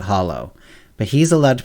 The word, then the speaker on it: holo: He's like the only one as far as I'm concerned, he's the only one who's allowed to pronounce it holo. Everyone else really needs to pronounce it hollow.